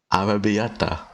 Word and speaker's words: Arrabbiata: Arrabbiata. Ara Beata.